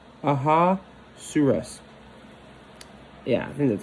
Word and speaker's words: Ahasuerus: There's already need to learn how to pronounce names, but King Ahasuerus. Ahasuerus.